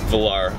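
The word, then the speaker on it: Velar: a Land Rover well I guess Range Rover Valar pronounce it Valar okay so we're here with mark by the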